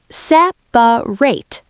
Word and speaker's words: separate: The word is s e p a r a t e. Textbook, separate. Real life, separate.